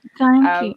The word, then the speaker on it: Janki: Janki. Yeah, it's pronounced Janki, but Sorry.